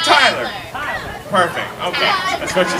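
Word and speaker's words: Tyela: T-Y-E-L-A. Like Tyler.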